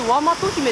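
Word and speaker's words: 倭姫: これでワマト姫って読むんやって。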